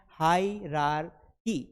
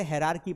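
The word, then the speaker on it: hierarchy: इसे पढ़ते हैं हायरार्की। हायरार्की नहीं होता है। इसे हरार्की पढ़ेंगे। मतलब मैंने सही पढ़ दिया। वैसे इसे हरार्की पढ़ा जाता है।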